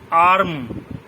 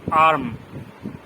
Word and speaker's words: arm: ঠিক তেমনি আর্ম, ARM, আর্ম, এই আর্ম বলতে গিয়ে আরটাকে সঠিকভাবে না বললেও হবে। কি বলবো আমরা? আর্ম, মানে আরটা উজ্জ।